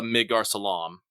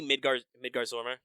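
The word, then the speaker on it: Midgardsormr: because they showed a Midgar Salam. Or is that how it's pronounced? Or it's yeah, I mean it's supposed to be Midgar Zormer. Midgar Zormer. I've always said like Midgar Salam.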